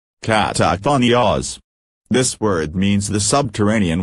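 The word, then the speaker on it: καταχθόνιος: one Greek word, that is, katakhonios, which is pronounced katakhonios.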